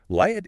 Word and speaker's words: Liat: Speaking of reaching a wider audience, Liat is currently running a campaign Oh, wow.